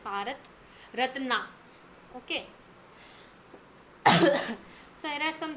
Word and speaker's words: Bharat Ratna: in India that is if you pronounce it like the spelling then you'll definitely be able to get the spelling now so just pronounce it like Bharat ratna okay so here are